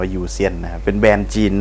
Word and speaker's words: YOUXAIN: มี ชื่อ แบรนด์ ว่า จริง ๆ เขา จะ อ่าน ว่า โยซียน นะ ครับ อัน นี้ จะ เขียน ว่า ประมาณ ว่า ยูซียน นะ ครับ เป็น แบรนด์